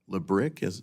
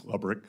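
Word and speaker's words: Lebryk: And I believe you were approached by the highest-ranking career official at Treasury, David Lebrick. Am I pronouncing his name correctly? I believe it's Lubrick.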